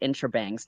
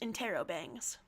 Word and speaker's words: interrobangs: angry eyebrows drawn on it and agitated little intrabangs near it. That one is the Knight of Cups, perhaps Carcat's own card. Okay, think Real quick, laterally from. that's pronounced interrobangs.